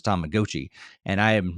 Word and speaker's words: Tamagotchi: me from that game that they pronounced it Tamagotchi. I thought it'd been Tamagotchi my entire life, but apparently at least the announcer said it was Tomagotchi.